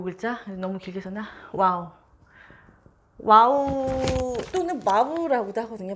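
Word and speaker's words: וָו: 그래서 와우는 워터 할 때 이 영어에서 이 발음하고 비슷하다고 봐주시면 되고요.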